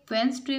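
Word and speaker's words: Wednesday: और वेंसडे में D जो है ये साइलेंट लेटर है।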